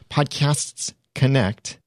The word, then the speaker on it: Podcasts Connect: Now, I have to be very precise in the pronunciation because it's podcast with an S, plural, at the end, Podcasts Connect, because technically Podcast Connect is someone else's trademark.